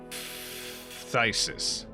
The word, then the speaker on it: phthisis: It's a Greek root. Pronounced as F, like in philosophy. Phthisis.